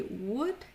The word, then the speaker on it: would: pronounce the O and we don't pronounce the L so we won't say w or should but we will say would and should so only